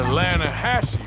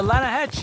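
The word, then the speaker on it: Lannahechee: caught some beautiful steelhead trout you mean the atlanta hassey river no no no no the the lana hatch it runs right near here yeah but it's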